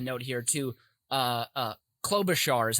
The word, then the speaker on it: Klobuchar: also have a note here too uh uh klobuchar is how you pronounce uh senator amy's name klobuchar um well